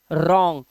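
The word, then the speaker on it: wrong: पता होगा रूल कि आर से पहले अगर डब्लू आता है तो हम क्या करते हैं डब्लू का प्रोनंसिएशन डब्लू को प्रोनाउंस नहीं करते डब्लू वर्ड को नहीं पढ़ते वो साइलेंट हो जाता है तो हम क्या पढ़ेंगे रंग तो हम बोलेंगे इट इज रंग या फिर दिस इज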